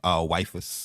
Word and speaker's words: waifu: Did you just say black waifus? Yeah. How you pronounce it?